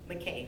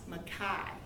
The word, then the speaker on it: McKay: c k k-a-y now that looks like mckay and everybody will say mckay like i just did but his name is actually ross makai because he's from canada as a matter of fact everybody pronounced his name incorrectly and when i pronounced his name during the introductions for dinner he gave me a hand clap because this is ross makai but one of the